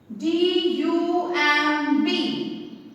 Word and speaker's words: dumb: DUMB, dumb. इसे हम dumb नहीं बोलते, इसे हम dumb कहते हैं, है ना। तो which letter is silent? B is silent.